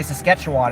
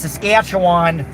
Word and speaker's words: Saskatchewan: Saskatchewan a oh Saskatchewan I always say sasketchewan and they're like you mispronounced it it's Saskatchewan and then I would and